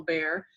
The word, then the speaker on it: Bexar: and this is uh bear county it's sound it's spelled bexar but it's pronounced like the animal bear it's really simple no